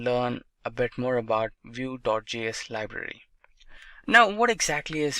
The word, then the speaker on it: Vue.js: Vue.js is commonly referred to as Vue and pronounced as Vue.js, or Vue is rightly so.